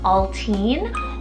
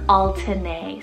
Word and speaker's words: Altine: Next one here, which has actually two pronunciations, we have the name Altine or Altine, spelled A-L-T-I-N-E.